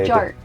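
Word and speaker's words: Butchart: Is that really how you say it? Butch art? No, it's like bouchard. It's like Butch art. Yeah, you kind of just say butch art.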